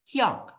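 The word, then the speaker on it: 형: laki-lakinya itu Hong ya di sini tulisannya Hong tapi yaabun jangan baca baca Heong ya bacanya itu Hyong atau Hyung mungkin ya yarun e terbiasanya eh dengan tulisan Hyung mungkin ya itu y robun hati-hati ya robun ya selesai kelas dari sem jangan sampai bilangnya hiung-hiung lagi ya nanti sem kecewa ya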